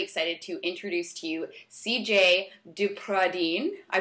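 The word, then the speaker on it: Cijaye DePradine: today I'm really excited to introduce to you CJ dupradine I pronounce that right yes that's pretty yes she's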